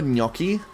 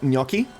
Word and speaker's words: gnocchi: Remember gnocchi?